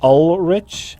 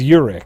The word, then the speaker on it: Urich: Oh, well, see, also Anonymous spelt it with an L, Ulrich, Okay. and it is Urich.